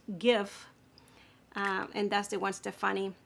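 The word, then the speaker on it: GXVE: g x v e which I learned is pronounced give and that's the one Stephanie brand which I've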